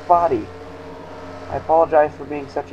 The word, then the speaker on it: Foddy: This is Foddy. I've been pronouncing it Fod all this time. It's pronounced Foddy.